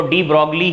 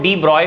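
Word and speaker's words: de Broglie: deposit जरूरी होता है लेकिन जैसे लिखा होता है इंडियन इंग्लिश अगर हम पढ़ें तो उसको डी ब्रोग्ली ही पढेंगे यह स्पेलिंग होती है ना इसलिए डी ब्रोग्ली पढ़ लेते हैं बीआरओ चीफ LED ब्रॉकली पढ़ते में इसका पूर्ण पेशंट जो सही है वह डिब्रॉय होता है बात आ गई तो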